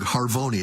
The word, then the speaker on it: Harvoni: I'm looking at a hepatitis C drug, Harvoni. Am I pronouncing that correct?